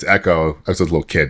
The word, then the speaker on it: Ecco: Then someone's like, it's Echo. I was a little kid, and I was like, oh, yeah, I'll pronounce it correctly then.